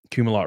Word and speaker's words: Kumalot: Kumalot rhymes with Doom-a-lot.